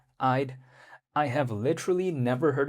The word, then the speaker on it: Eyed: It's spelled like literally like e y e, like, you know, eye, but with a d at the back. So, it's like Eyed.